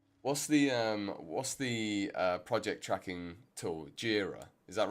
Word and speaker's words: Jira: Jira. Is that right? Must Yeah, Jira. That's what they're saying. I was like, oh, am I pronouncing it right? Or is it Jira? You know? Jira. Like Bagheera.